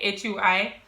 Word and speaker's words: Hui: I do realize that I did have a problem pronouncing like H in Hui, like H-U-I. I used to say K-U-I, right? So like Hui instead of Hui.